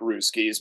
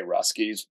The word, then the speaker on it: Russkies: when you when you I always called it rooskis but a lot of people say ruskies but you know and